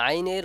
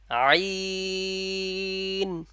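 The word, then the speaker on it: عين: এটি হলো আইন এই আইনের মাখরাজ হলুক মা গলার মাঝ থেকে আসবে এবং এই আলিফ এই হরফটি উচ্চারণের সময় চার আলিফ পরিমাণ টানবো যেমন আইন আইন এবার আমরা এই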